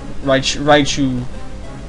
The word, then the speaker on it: Raichu: Raichu.